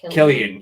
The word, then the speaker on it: Cillian: Isn't it pronounced Killian?